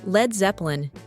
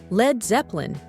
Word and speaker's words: Led Zeppelin: The band's name was deliberately spelled Led instead of Lead, so that its English-speaking fans would pronounce it lead instead of lead, and thus Led Zeppelin came into being, representing